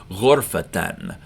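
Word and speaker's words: غرفةً: And then if you were going to pronounce it with full pronunciation, you'd say ghurfatan, a room again, but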